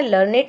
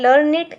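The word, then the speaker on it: learned: Next है we pronounce it एज लर्नेड to rhyme with. अब जो ये लर्नेड है इसको हम प्रोनाउंस करते हैं लर्नेड से, to rhyme with created, weighted. तो यहाँ पर आईडी है और यहाँ पर ईडी है, बट इनका साउंड सेम है, लर्नेड, क्रिएटेड, वेटेड।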